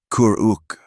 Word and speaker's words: Kuruk: "Kuruk." He pronounced it slowly. The sounds rounder and deeper than her English tongue naturally formed.